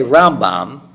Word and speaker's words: Rambam: moshe ben nachmann and since the m and the n sound alike we pronounce them differently we say rambam but we say ramban so we emphasize a different syllable so that we're not